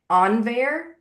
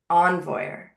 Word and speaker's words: Envoyer: And James is an engineer team lead at Laravel, focusing on dev tools like Laravel Forge and Envoy. Did I pronounce that right, James? Envoy. Envoyer.